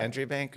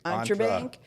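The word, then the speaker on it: EntreBank: um how did we how did we pronounce Entre Bank when we first met Melissa entry Banker entry Bank she's like no it's like for entrepreneurs it's Entre Bank we're like oh yeah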